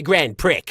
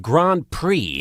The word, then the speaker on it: Grand Prix: in the grand prickers You're a grand prick I think it's pronounced Grand Prix You're a grand prick